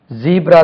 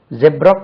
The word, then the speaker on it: zebra: ஜீப்ரா தான் நம்மளுக்கு தெரியும். ஜெப்ரா கிராசிங், ஜீப்ரா கிராசிங் ரெண்டுமே கரெக்ட். First preference ஜீப்ரா. அதே மாதிரி first preference ஜெப்ரா, second ஜீப்ரா.